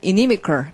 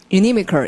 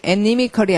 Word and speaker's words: inimical: 그래서 근데 그것이 또 특이하게도 형용사가 되면 발음 inimical. 발음 inimical. 이렇게 스펠링이 또 바뀌어요. inimical이 아니라 inimical 이렇게 바뀌는 거죠.